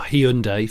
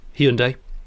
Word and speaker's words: Hyundai: a it was a hyundai coupe or hyundai for american listeners hyundai um and there were